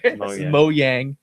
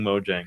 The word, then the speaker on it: Mojang: that's the biggest reveal right there moang so that's how you pronounce it I still call gifts gifts and I'll call Mojang Mojang so moang so one